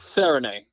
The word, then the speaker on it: Serigné: It's Serigne. Serigné. Serigné, okay.